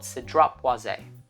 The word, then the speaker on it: Cedrat Boisé: By Mancera, it's called Cedrat Boisé or Cedrat Bois. Some people, people have different pronunciations.